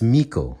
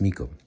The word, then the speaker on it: Miko: You guys pronounce it as I. So my mind tends to pronounce it the English way. But I promise you, when it's just me, I do pronounce it correctly. So it's Miko. It's Miko.